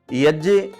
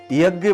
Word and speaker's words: यज्ञ: यज्ञ शुद्ध उच्चारण है, लेकिन हम जानकारी न होने के कारण यज्ञ बोल देते हैं। ध्यान रखना, ये ज संयुक्त व्यंजन है जो ज और य को मिलकर के बनता है।